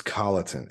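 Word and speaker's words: Colloton: this show was actually figure out how to pronounce his last name it's Colleton it's Jimmy Colleton c-o-l-l-o-t-o-n um a lot of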